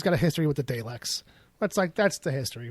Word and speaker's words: Daleks: is like he's got a history with the Daleks. That's the history. Like that's tangentially much. That's like kind of like you need. Don't get me wrong. I'm not saying there's not more to it. No, it's Daleks.